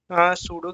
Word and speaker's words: pseudo: कुछ इस तरह से सूडो की स्पेलिंग क्या होता है प पी साइलेंट होता है इसमें मैं यहां पे